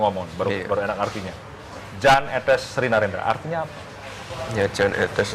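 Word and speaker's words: Jan Ethes Srinarendra: Ini cara membacanya bagaimana nih? Karena ada kesan bahasa asing. Yan, Jan atau apa? Etes, etes, etes sri Narendra yang betul bagaimana? Jan etes Sri Narendra.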